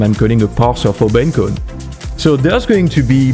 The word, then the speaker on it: Bencode: oops sorry about that so Ben code pronounced like B encode okay that's the okay